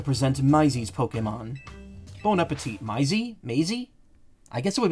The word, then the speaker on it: Maisie: It's pronounced Maisie.